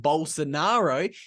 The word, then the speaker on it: Bolsonaro: The former president of Brazil, I believe his name is pronounced Bolsonaro, he is actually banned from running in any elections for the next 8 years because apparently he's been accused of election fraud.